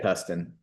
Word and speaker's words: Tustin: Growing up in Tustin, is that how you say it? Yeah, Tustin.